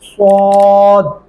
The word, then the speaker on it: صاد: ہے، عین اور صاد۔ صاد پڑھتے ہوئے آپ کے ہونٹ جو ہیں وہ گول ہو جاتے ہیں، کیسے؟ صاد، تو آپ کو ایسے ہی پڑھنا ہوگا۔ والعصر، کیا پڑھیں گے؟